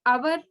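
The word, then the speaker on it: hour: एच ओ यू आर ये consonant से start है, लेकिन इसका जो प्रोनाउंसिएशन है वो क्या है, ऑन अवर। अवर भी कहाँ से स्टार्ट हुआ, आ से, इसलिए इसके आगे भी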